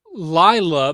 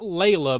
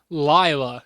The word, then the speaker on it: Lila: Lila by Karaoke, because that's how he pronounces it in the song. Not Layla, but he says Lila in the song.